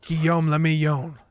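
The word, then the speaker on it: Guillaume Le Million: If it doesn't rhyme, you're not pronouncing it Guillaume Lamillion.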